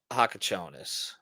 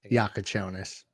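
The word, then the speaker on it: Jakučionis: they're able to develop Hakachonis, did I pronounce it incorrectly? Yakonis, just call him Cass.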